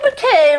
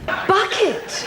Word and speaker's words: Bucket: The Bouquet residence, the lady of the house speaking. On this pedestrian. BUCKET.